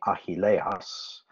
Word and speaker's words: Achilles: be the achilles tendon the achilles which is greek uh the proper way to say this in greek would be ahilehus which is achilles the achilles tendon um